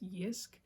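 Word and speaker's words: Jysk: things from I think it was yisk j-y-s-k um I think that's how you pronounce it I saw these rhinestone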